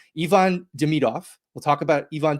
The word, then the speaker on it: Ivan: talk Ivan or I we have to start saying it correctly. Ivon Deidov, we'll talk about Ivan Deidov's uh debut in Montreal.